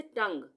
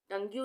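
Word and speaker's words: tongue: यू का उच्चारण नहीं होगा य पर ये साइलेंट हो जाएगा उसी तरह से टंग टंगू नहीं बोलेंगे टंग र्ड यहां पर भी यू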